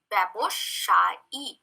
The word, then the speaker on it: ব্যবসায়ী: While we use the word commercial, we say baboshaik, and when we use the word business man, we say baboshai. The K or the K is omitted.